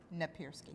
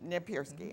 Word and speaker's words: Napierski: How do you pronounce it? Napierski. Napierski. Okay, that's right. I was close.